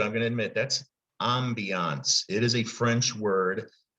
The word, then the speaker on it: ambiance: That ending A-N-C-E, that kind of pretty much comes from the French language.